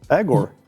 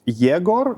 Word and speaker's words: Yegor: No, Yegor. That's the, let's say, the original version, like the how it's supposed to be called. Egor, it is more already changed for the convenience of people who cannot pronounce the ye.